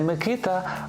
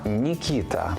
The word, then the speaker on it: Микита: згідно з російською вимовою не Микита а нікита не Кирило а кирл не Данило А даніла чи Даніїл без сумніву батьки мають